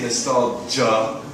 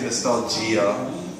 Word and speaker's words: nostalgia: Pronunciation, the end of the word, the GIA part, I say nostalgia, ja. I think some people say nostalgia, gia versus ja. Maybe I'm wrong, but I think both are okay.